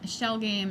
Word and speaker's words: Schell: For folks at home, Shell Game is spelled SCHELL. I like every time she says it, I'm like, no one's gonna be able to find it because they're gonna think shell like that's SH.